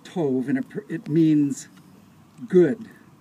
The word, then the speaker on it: tov: the glass is broken we all shout masle Toof means it's actually pronounced Tove and it it means good and if you